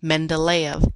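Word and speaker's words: Mendeleev: The periodic table was first organized by a Russian chemist, Mendelv. Mendelv. Mend d e v is pronounced mendav.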